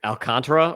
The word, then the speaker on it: Alcantara: 62 Sandy Alc Alcantra or Alcantara. I always said Alcantara announcer say alcantra that's like quick yeah accent on the second syllable and I have